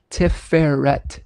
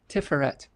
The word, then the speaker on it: Tiferet: Emphasis on the second syllable.